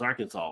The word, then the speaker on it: Arkansas: like why is it why is it Arkansas not AR Kansas exactly see maybe I